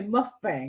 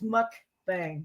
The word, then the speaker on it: mukbang: No, you used to say muffbang. Yeah, that's what it is. No, Muffbang. It's mukbang.